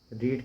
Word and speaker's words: read: और देखो लिखने में स्पेलिंग इसी तरीके से आती है लेकिन उच्चारण होता है इसका रेड रीड रेड रेड इस तरह का इस तरह का उच्चारण करते हैं हम इसका ड रेड स्पेलिंग सेम रहेंगी लेकिन इसका उच्चारण इस प्रकार से हम करेंगे अलग से सिट मींस बैठना और